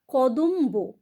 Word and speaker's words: কদম্ব: ব এরও উচ্চারণ হলো কদম্ব এখানেও তাই ম ব দুটোরই উচ্চারণ হলো নিতম্ব এখানেও তাই উল্লম্ব